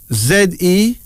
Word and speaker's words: Zene: Zene, Z-E-N-E, pronounced Zene, Z-E-N-E, a Nigerian name meaning beautiful.